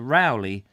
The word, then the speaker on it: Rowley: his first name because there's a rowley house in shrewsbury and it's spelt r-o-w-l-e-y but it's not sprout roll it's not pronounced roll it's about uh rowley so when i see that i now think of rowley anyway while the stack